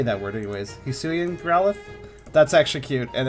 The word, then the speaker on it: Hisui: I watched a video of someone making like commentary on all the new Hisuian Pokemon, and they said the region name wrong every single time, and it made me mad.